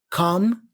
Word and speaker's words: comb: Comb, I comb my hair, not comb, okay?